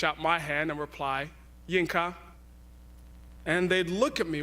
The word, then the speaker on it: Yinka: have a shorter nickname it's Janka two syllables and then there are